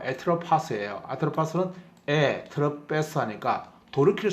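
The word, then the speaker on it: Ἄτροπος: 그러니까 죽음을 뜻하는 말에서 우리가 아트로포스라고 보통 부르는 신인데 정확하게 발음은 에트로파스예요.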